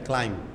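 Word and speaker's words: climb: याद रखें एम के बाद बी नहीं पढ़ा जाता। क्लाइम नहीं है। लफज़ क्या है? क्लाइम।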